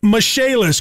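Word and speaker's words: Michaelis: Spelled M-I-C-H-A-E-L-I-S, pronounced Michalis.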